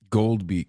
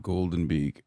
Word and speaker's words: Goldbeak: Gold Beak, not Golden Beak.